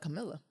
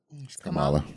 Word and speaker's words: Kamala: Because I think that, I'm sorry, did I say her name wrong? I call it Camilla. Kamala.